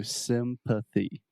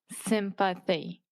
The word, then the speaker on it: sympathy: m m perfect so sympathy sympathy yes and we have a th in there so sympathy if you don't say the th this could be confused with Symphony which is an orchestra so sympathy sympathy excellent